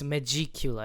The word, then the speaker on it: Megicula: How do I pronounce it? It's Megicula.